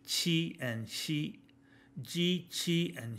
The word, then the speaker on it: qi: So G is like jeep, chi is like cheap, and X is like sh in sheep.